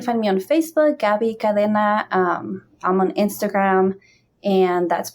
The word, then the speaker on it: Cadena: Cadena.